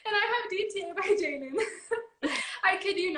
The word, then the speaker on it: JXDN: It's DTA by Jaden. It's spelled JXDN.